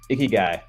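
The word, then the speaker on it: Ikigai: correctly to your right so icky guy is how you pronounce that and now the only reason I remember that is because it just sounds like icky like a Nikki guy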